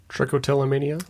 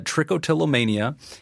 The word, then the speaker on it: trichotillomania: Trichotillomania? I always pronounce it trichotillomania.